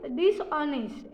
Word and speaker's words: dishonest: और उसके बाद DISHONEST मीन्स डिसऑनेस्ट, ऐसा मतलब बेईमान। और उसके बाद के, मतलब के ये लेटर साइलेंट है।